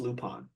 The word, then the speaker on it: Lupin: well lupon or Lupin it's apparently pronounced lupon but it's spelled Lupin okay uh it's kind